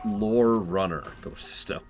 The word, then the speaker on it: Lorerunner: that no no it's pronounced lore Runner my own dad used